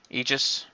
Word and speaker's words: Aegis: It's pronounced E just like your name is, right? Aegis.